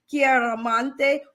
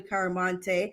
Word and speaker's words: Chiaramonte: have the lovely lovely doctor chiara monte or you can call it dr caromante yes she gave us the pronunciation she gave us two ways to pronounce or her patients love